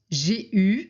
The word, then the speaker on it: eu: Pour avoir, on dit j'ai eu. Alors ici, on écrit EU, mais on prononce U, comme si on n'avait pas de E.